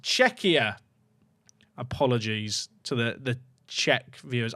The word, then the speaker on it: Czechia: It's pronounced Czechia.